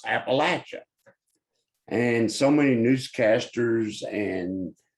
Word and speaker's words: Appalachia: The best way to remember how to pronounce it is think about Adam and Eve in the Garden of Eden. Adam looking at Eve and said, "I'm going to throw an Appalachia."